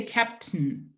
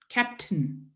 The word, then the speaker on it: captain: We have no vowel sound between the T and the N. We have nothing here. There's nothing, no vowel sound. They just say captain, captain.